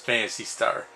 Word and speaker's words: Phantasy Star: Fantasy Star 2 okay it's actually pronounced Fantasy Star I guess the pH is silent here's a big sequel